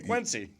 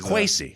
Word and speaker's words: Kwesi: Well, hey, Quincy. A lifetime of having a West African name that I love and dear to my heart, but it's been mispronounced every which way possible. So really, there's it's Kwesi.